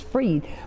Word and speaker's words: Fried: We've had a conversation today with Nikki Fried, and I tell you, Nikki Fried, I said it wrong that time, it's Fried, but the points that